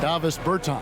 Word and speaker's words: Davis Bertans: Oh, well, now, at this point in my life, it's Davis Bertans. Is that how you say his name? Yeah. Davis Bertans.